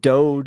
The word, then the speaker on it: DOGE: Doge. It is Doge. Not yes. Dodge. Dodge No, is a truck. Yeah, it's Doge. It's Doge because it's a meme.